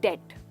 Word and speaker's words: debt: Well दोस्तों, यहाँ पर भी बी साइलेंट है। हम कहते हैं डेट, जिसका मतलब होता है कर्जा।